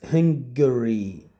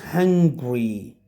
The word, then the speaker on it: Hungary: speaks Greek that's right most most students don't know how to pronounce this word this word is Hungary Hungary Hungary but it is not hungry hungry when you are starving when you need food but this is Hungary Hungary hungry but when